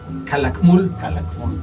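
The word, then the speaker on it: Calakmul: es el jaguar negro kalacmul kalacmul es la pronunciación que sí yo tenía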